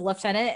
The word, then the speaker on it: lieutenant: though, before that reveal, can we talk about how Brits say lieutenant? Because he says it as lieutenant, and I don't know. I like how they say lieutenant. Wait, say it again. How do they say it? They say it like lieutenant. They throw like an F sound in there.